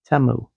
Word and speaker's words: Temu: not updating Teemu so that TAMU I think is how it's pronounced at least if you hear the com the ads done by demo it's TAMU I've been calling it Teemu the whole time everybody was calling a